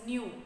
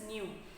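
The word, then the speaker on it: ν: It is indicated by this term like a V, but it should be pronounced as nu. What should be pronounced? It should be pronounced as nu.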